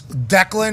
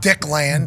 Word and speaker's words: Declan: Yeah, I would assume it's Declan, not Dickland.